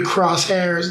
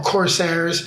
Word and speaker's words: corsairs: in the city of the crosshairs or corsairs if you want to pronounce it properly and we're surrounded we're